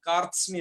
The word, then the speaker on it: कार्त्स्न्य: कार्त्स्न्य, इसमें थोड़ा संयुक्त शब्द ज्यादा है, थोड़ा पढ़ने में आपको दिक्कत हो तो उसे ठीक कर लेना। कार्त्स्न्य इसका उच्चारण है।